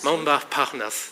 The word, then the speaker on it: Montparnasse: Montparnasse, thank you for correcting my pronunciation.